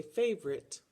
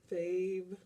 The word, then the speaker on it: favorite: Has a silent E on the end that you don't really hear, and it doesn't make the I say I. It's just there.